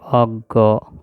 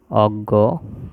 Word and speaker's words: অজ্ঞ: আর এটা হচ্ছে প্রজ্ঞা এই জিনিসগুলো আমরা উচ্চারণের সাথে বানানের মিল খুঁজে পাওয়া যাবে না কিন্তু এগুলো আমাদেরকে এই মুখস্ত করতে হবে দেখে দেখে বুঝতে হবে যে এইগুলোর উচ্চারণ এরকম হবে যেমন জ্ঞান বিজ্ঞান অজ্ঞ